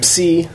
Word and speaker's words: psi: And in Greek, you do pronounce the P more, whereas in English, you would drop the P and just pronounce it like a silent P.